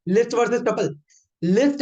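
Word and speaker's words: tuple: अगला है, नहीं यार भाई, डिक्शनरी, आए सॉरी सॉरी सॉरी, टपल। अगर किसी ने इसको ट्यूपल, टुपाल, टुपला कुछ भी पढ़ा, भाई साहब निकल लो, इट्स टपल, दैट्स इट। इसके अलावा इसकी और कोई प्रोनाउंसिएशन नहीं है, ठीक है।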